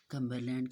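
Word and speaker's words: Cumberland: कम्बरलैंड के spelling देखिए। CUM कम, BER बर, LAND लैंड, कम्बरलैंड।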